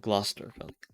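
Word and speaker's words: Gloucester: that are like spelled differently um when but pronounced also like differently or like Lester and Worster sure and glester but um I don't know man I don't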